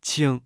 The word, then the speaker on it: 请: 请 Se pronuncia con el tercer tono. En chino mandarín, 请 puede tener varios significados dependiendo del contexto.